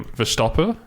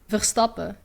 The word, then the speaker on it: Verstappen: You don't pronounce the N? No, usually like in Dutch, when there's an N at the end of the word, you don't say it.